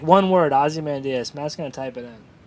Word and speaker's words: Ozymandias: Ozymandias. Ozymandias. Yeah. Did I just pronounce it wrong? It sounded like you said his first name and last name. Ozymandias. No, it's Ozymandias.